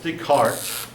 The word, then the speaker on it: Descartes: philosophy yeah I'll start off with an ageist de cartes de cart now it's not spelled with pronounced Rene Descartes said I think therefore